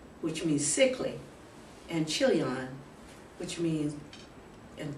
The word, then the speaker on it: Chilion: supposed to be pronounced which means sickly and chilion which means and K kilon it's pronounced that way meaning Pion so and the